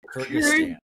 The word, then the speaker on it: Kyrgyzstan: Kyrgyzstan. Kyrgyz. Okay. Yeah, yeah. If you try to spell it, it'll keep autocorrecting to Kurdistan, which is right next to it.